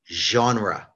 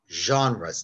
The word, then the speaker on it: genre: I know it looks like it should be pronounced a different way, but it's a French word that we took into English and we tried to pronounce it like French.